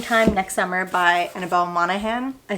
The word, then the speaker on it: Monaghan: Then next up, I read Same Time Next Summer by Annabel Monaghan.